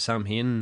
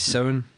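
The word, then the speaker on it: Samhain: He called it Sam Hain. Did he? Fucking Aye. Halloween too. Didn't he ken nothing? It's sound.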